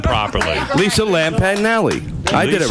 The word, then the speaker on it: Lampanelli: and woman I can't say her name Lisa lamignelli she's been on more black men than handcuffs say her name properly Lisa Lampanelli I did it right Lampanelli yeah and panelly yes that's her name yes